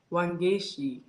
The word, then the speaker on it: Wangechi: comment right there I want to hear her pronounce her name wangi um w a n g e c h